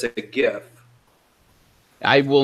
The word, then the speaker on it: GIF: of it called it it is not a Jeff the Internet has spoken it is a gif gif spells gift the Internet has spoken for years and years I don't care the Creator came out like a decade or two decades after and said by the way it's called a jiff no go do whatever